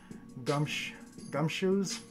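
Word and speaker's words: Gumshoos: Gumshoes.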